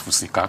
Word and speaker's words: Fusika: Well, to start with, the name is, the correct pronunciation is Fusika.